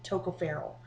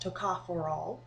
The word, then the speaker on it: tocopherol: discuss it's um I always said it um mispronounced it Toco feral and it's actually pronounced TOA forol and uh also a form of that is